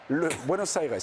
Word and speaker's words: Buenos Aires: Buenos Aires, oui, en effet. L'accent tonique est important.